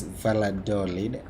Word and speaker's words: Valladolid: valladolid here in spain is it valentine because maybe i'm wrong it's valador yes because sometimes you may pronounce and someone will be like i've never heard of that city it's it's valladolid we're doing a job